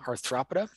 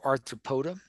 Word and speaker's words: Arthropoda: It is in the phylum Arthropoda or Arthropoda. I think it's pronounced both ways, depending on whether it's English or American pronunciation.